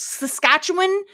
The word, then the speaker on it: Saskatchewan: it's a location and it's Saskatchewan not Saskatchewan that is what I know and the Canadians will be very pleased that I pronounced it correctly I'm just letting you